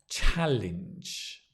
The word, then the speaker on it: challenge: Let's begin with the word challenge, which is a ch sound. Ch, the stress on the ch or the cha as it says cha, challenge. This is a cha and this is a jah. Cha, jah. Challenge.